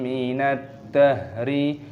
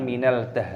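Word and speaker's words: مِنَ الدَّهْرِ: Hinum min ad-dahri. Min ad-dahri. Alif lam syamsiyah, si 'da' punya tasydid. Kita memasukkannya, kita melakukan Idgham. Dibaca “minad-dah”, bukan “minal-dah”. Itu berbeda.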